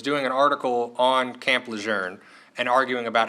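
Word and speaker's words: Lejeune: best answer I could give him was it's pronounced lour and in fact we'd argued over this for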